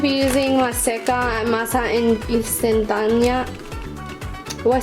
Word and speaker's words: instantánea: Okay, so I'm going to be using maseca and masa instantánea.